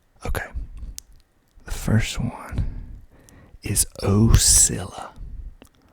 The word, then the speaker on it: Ocilla: each of them okay the first one is ocilla oh silla ocilla georgia that's how you pronounce it a dale hey dale there's a